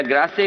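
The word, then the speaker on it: Grasse: जिस तरीके से फ्रांस में ग्रास या ग्रासे कहें, वो वहां की फ्रेंच कैपिटल, परफ्यूम कैपिटल मानी जाती है। फ्रांस में परफ्यूम कैपिटल अगर है कोई, तो कोई ग्रासे कहता है, कोई ग्रास कहता है।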